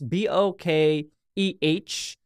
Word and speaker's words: bokeh: pronouncing it wrong it's b o k e h I've heard some people say bokeh but for me it's like bokeh I don't know it's